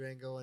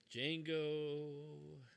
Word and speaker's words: Django: go Django Unchained. Django. So The D is silent.